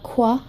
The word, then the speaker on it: croix: 18 original design the qua bracelet so I'm really hope i'm pronouncing it right because it spelled out as CRO I X and it's French for cross so I think this